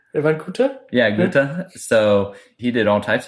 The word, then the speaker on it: Goethe: Well, you probably can pronounce that one right. Van Goethe? Yeah, Goethe.